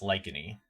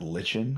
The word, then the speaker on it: lichen: The first time I read it, I pronounced it lichen because I mean it's CH. How else you can pronounce it? Yeah. But now that it's pronounced lichen, every time I hear